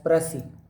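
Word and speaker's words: précis: आज मैं आपको राजस्थान मेंस में आने वाली इंग्लिश लैंग्वेज में एक क्वेश्चन आता है प्रेसी, PRECIS, प्रेसी। एस उसमें साइलेंट रहता है, प्रेसी कहते हैं उसको।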